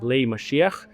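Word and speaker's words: משיח: this going to be as part of I'll pronounce it in Hebrew it's called Mashiach which is messianic birth tanks.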